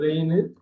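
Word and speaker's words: reign: ரெயின் ஒரே meaning இல்ல, ஒரே உச்சரிப்பு தான்.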